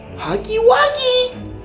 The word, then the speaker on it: Huggy Wuggy: a real ego okay Huggy wuggy no not like that what do you mean that I said his name no but you got to say it like this like hugy wagy you know but you're